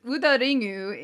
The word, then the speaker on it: Udaring: The droid in this episode is named Udaring, which is pronounced Udaringu in Japanese. Her name consists of the words ude, which means arm, and ringu, which means ring in Japanese.